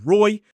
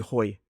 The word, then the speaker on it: Roy: And similarly, my name is Roy. If you pronounce my R as a H sound, instead of good night, Roy, you could say gujinaichi hoy.